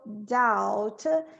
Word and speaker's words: doubt: Então, as you no doubt, e aqui tem essa questão do B. Esse B a gente não vai pronunciar.